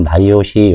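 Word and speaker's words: NIOSH: 국립 산업안전 보건 연구원 그러면 보통 나이시 렇게 발음하고이 나이오 시에서 직무 스트레스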